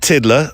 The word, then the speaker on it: Tiddler: It was Bet Tiddler, rhymes with Midler.